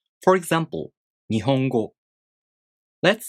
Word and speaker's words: 日本語: The word 日本語 has 4 moras.